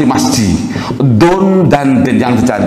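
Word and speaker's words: مسجد: Mim sin jim dal. Oh, enggak ada orang baca misi jim, enggak ada, Pak. Mesti ada enggak orang baca misi jim, ada enggak? Enggak ada ya. Bacanya mesti masjid.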